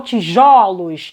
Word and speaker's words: tijolos: Para vocês verificarem que quando eu falo no singular, o timbre é fechado. Na hora em que eu coloco no plural essa palavra, ó, botei ela no plural, bonitinha, sem acento, tá? E aí eu coloquei no parêntese a forma como ela fica, puxei a chave de pronúncia aqui, ó. O primeiro O, ele ganha o timbre aberto no plural. Então, singular, tijolo, plural, tijolos. Esse O abre.